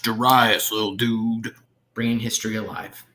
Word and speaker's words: Darius: Emperor Darius, all of the provinces have paid their taxes. It's pronounced Darius, little dude.